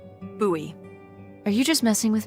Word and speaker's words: Bowie: It's actually pronounced Buoie. What? No, it's like the last name like David Bowie. Different last name. Buoy.